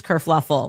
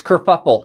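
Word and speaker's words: kerfuffle: Kurfluffle. Oh, no. That's it's kurfuffle.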